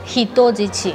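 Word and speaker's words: 人質: Pero si uno dice, por ejemplo, rehén, que se dice hitojichi. O sea, ahí se pronuncia hito.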